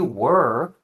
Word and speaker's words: were: Nesse caso aqui, where é um som mais aberto. Where. E were eu chamo de um som mais preguiçoso, tá? Então não confunda a pronúncia. Where, aberto. Were, preguiçoso. Ok?